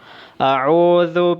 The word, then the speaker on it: أعوذ: A'udhu. Ang dhal ay dapat na nakalabas ng kaunti ang dulo ng iyong dila. A'udhu. Dapat nakalabas ng kaunti ang dulo ng iyong dila upang mabigkas ng tama ang dhal.